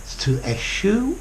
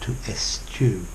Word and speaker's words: eschew: now - s - a shoe or - askew I don't like the second pronunciation but I've heard lots of Americans and other Brits say if s you as well bye for now